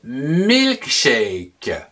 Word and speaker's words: milkshake: Le milkshake, M-I-L-K, milk, S-H-A, chat, K-E-que, que l'on prononce shake.